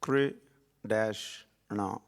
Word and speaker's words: Krishna: It's Kri dash Na. Kri is one syllable, Na is another one.